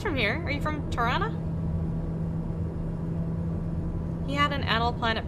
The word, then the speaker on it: Tirana: Tirana. That's how you know you're from there. You say it like that. Tirana.